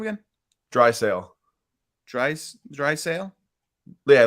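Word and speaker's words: Draisaitl: guy's last name again dry Sail dry dry sail yeah Leon dry sale no T pronunciation maybe there's a little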